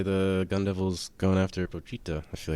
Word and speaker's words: Pochita: The way the Gun Devil's going after Pochita, I feel like that says Pochita's been up to some no good. Might not be as cute as we think. He never pronounced the I. He said Pochta.